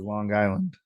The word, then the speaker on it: Long Island: right he's you know he pronounces the G twice when he says Long Island Long Island yeah Long